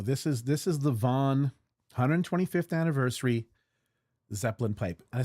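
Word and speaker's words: Vauen: So, this is this is the Vaughn 125th anniversary Zeppelin pipe. I say Vaughn, it's actually pronounced Fen, right?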